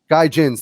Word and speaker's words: gaijins: Gaijins.